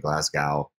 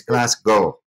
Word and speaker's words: Glasgow: I had to correct her on the pronunciation of Glasgow, because she was saying Glasgow, and she told me